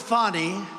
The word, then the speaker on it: Fani: counts he worked with fonnie even though it's spelled Fanny f a n i fny how about that one